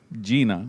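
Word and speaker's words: Jena: I pronounced that right? Yes. Gina.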